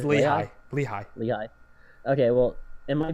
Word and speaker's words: Lehigh: names, and no one knows how to ever pronounce them if you're out of town. It's hilarious. Is it Lehigh? It's Lehigh.